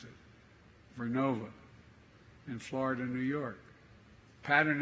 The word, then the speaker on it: Vernova: I mispronounced it. Vernova in Florida, New York.